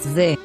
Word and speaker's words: ze: In this word, we have the letter Zayin, and the letter He. we pronounce it as Ze.